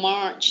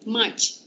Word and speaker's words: March: R tu silent eh. Jangan March. Macam tu. March.